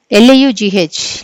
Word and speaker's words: laugh: 22, what is the sound of GH in the word LAUGH? Laugh. Okay, what is the sound of GH in the word this annappudu? The sound of GH is F.